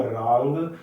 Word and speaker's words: रां: ओम रांग ending with ग, ओम रांग Rahway नमः, ज्यादा से ज्यादा करिए, बहुत ही उत्तम रहेगा।